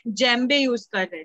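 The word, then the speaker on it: djembe: और नेक्स्ट आता है जेम्बे, इसको हम कैसे प्रोनाउंस करेंगे, जो मैंने ब्रैकेट में लिखा है देखो, उसको कैसे प्रोनाउंस करते हैं हम इसको, जेम्बे, मतलब अभी जो नाइजर,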